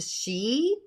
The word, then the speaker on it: Sidhe: She's part of the she. It's Sidhe, but it's pronounced she.